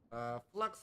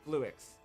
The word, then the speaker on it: Fluix: Oh, that's Fluix. Yeah, it's Fluix, right? It is Fluix. I'm just saying it wrong.